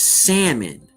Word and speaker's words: salmon: You know, just like, you know, the word is salmon. The L is silent.